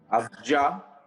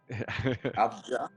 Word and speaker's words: Avdija: I don't know how to pronounce it. Avdija. Yep. Avdija.